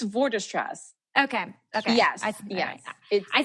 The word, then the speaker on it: Vorderstrasse: how do you say your last name it's for distress okay yes yeah I said it right earlier